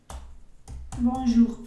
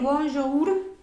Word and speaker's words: bonjour: Entonces no voy a decir bonjour, sino bonjour. Y en este caso, esa R al final sí se pronuncia, no como en los casos que les comenté donde la S y la T generalmente no se va a pronunciar. Estas R's al final se van a pronunciar.